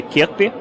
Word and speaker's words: Kirkbi: That company is the Danish company Kirkbi, which is the equity arm of the Lego family, the famous toys.